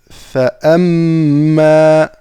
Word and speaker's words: فأما: Nous avons fa'amma fa. Ensuite, un alif hamza, d'accord, donc que l'on va prononcer.